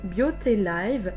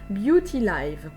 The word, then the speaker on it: Beauty Live: Se prononce à l'anglaise Beauty Live et non pas Beauty Live. Pardon. Voilà, donc c'est bien Beauty Live.